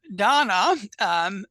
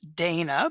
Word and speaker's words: Donna: So, Donna, and we talked about before we started, it looks like it could be pronounced Dana, but I'm glad we've got that clarified.